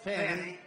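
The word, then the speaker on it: Fani: But one after another, you had Fanny, F-A-N-I, which is usually pronounced Fanny.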